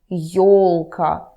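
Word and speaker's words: ёлка: for you number one your your your is always stressed the Lucas yolka Yorick it's always always stressed no matter what okay number two in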